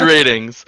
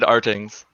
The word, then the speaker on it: RTINGS: ask for the question it's ratings okay i i said ratings i think fomo got me screwed up because he was saying our teens and so i'm like saying it wrong i mean before i worked here i said artings oh okay okay oh